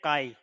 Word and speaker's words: chi: छी मत बोलना, इसका प्रोनाउंसिएशन होता है काई, और इसको लिखते हैं CHI में, राइट। इसको ऐसे बनाते हैं, काई ग्रीक वर्ड है, ग्रीक लेटर है बेसिकली, इसको बोलते हैं काई, राइट। इसका CHI स्पेलिंग होता है लेकिन बोलते हैं काई की तरह, राइट।